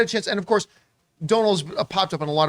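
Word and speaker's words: Domhnall: is also turning into an incredible incredible actor donald he's he's uh sorry i keep mispronouncing donal uh donald gleason i i just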